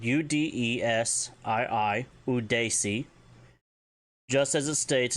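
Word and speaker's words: udesii: So if you want to tell someone to calm down or take it easy, it's udesi, spelled U-D-E-S-I-I, udesi.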